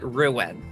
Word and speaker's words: Ruwen: It's supposed to be like the tree Rowan, but Ruwen.